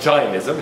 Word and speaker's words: Jainism: let's move on to Jainism. Also sometimes pronounced Jainism. It depends on how faithful to the Sanskrit you want to be.